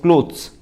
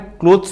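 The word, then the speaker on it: clothes: टी एच ई एस क्लोथ्स या को हमें क्लोथ्स प्रोनाउंस करवा कथा किंतु हमें उड़िया भाषा लोग के को कर क्लथस कह दो जो की हम प्रोनाउंसिएशन रे बहुत ब मिस्टेक ओके आप जो आप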